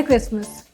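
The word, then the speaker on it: Christmas: टी is silent और टी और दूसरा वर्ड है क्रिसमस। उसमें भी टी साइलेंट होता है।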